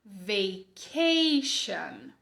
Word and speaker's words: Richard: no teu trabalho comigo não é o som de como em tchau é o som de como em xícara Beleza então repete aí comigo vem Richard ponto de atenção sílaba